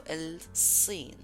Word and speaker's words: الصين: Here the s like pronunciation, it needs to be a bit strong and from the throat. So الصين.